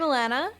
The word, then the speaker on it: Alanna: So I'm Alanna, rhymes with banana if you have an American accent. If you don't, it does not.